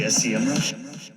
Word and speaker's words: Semrush: now i've said semrush they very politely reached out to me and said by the way it's sem rush so if you're wondering